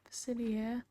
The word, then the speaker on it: Facilier: Facilier.